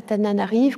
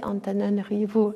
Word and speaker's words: Antananarivo: est né en 1977 à Tananarive, comme disent les Français, Antananarivo disent les Malgaches.